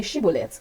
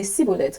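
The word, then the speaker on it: Shibboleth: If he said, "No," they would say to him, "Then say Shibbolet." Then he would say, "Cibolet." For he could not pronounce it right.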